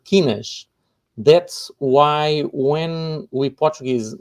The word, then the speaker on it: quinas: find 5 small blue shields that we call quinas.